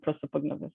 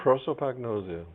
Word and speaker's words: prosopagnosia: a career for someone who suffers from from prosopagnosis so let me just play this short video